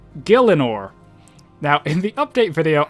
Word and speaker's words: Gielinor: so the the name or the title it's pronounced Gillen or now in the update video I pronounce it G Leonor and I think that's because growing up that's